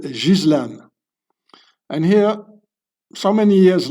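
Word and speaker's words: Ghislaine: It's so her name is not Gileain or whatever you pronounce it. It's a French name. You pronounce it Jizlan.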